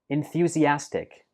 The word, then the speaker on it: enthusiastic: We pronounce this like enthusiastic. Enthusiastic. Enthusiastic. So it has 5 syllables. And note that the stress for this word is on the 4th syllable.